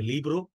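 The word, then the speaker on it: libro: বোঝার চেষ্টা করেন যে স্প্যানিশে ভি উচ্চারণ হয় না ভিকে ভি মানে ভকে ব এর মত উচ্চারণ করে বাট পর্তুগিজে কিন্তু আপনার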